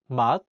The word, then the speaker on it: 맛: Here's an example with siot as the final consonant. In the word 맛, meaning taste, the siot is in the 받침 position, so it's pronounced as 트.